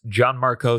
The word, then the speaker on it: Gianmarco: at my name at John Marco John Marco spelled with a g g a John Marco and